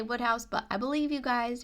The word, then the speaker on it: Wodehouse: 12 is where I put the Wodehouse books. It feels so weird for me to say Wodehouse, but I believe you guys who were telling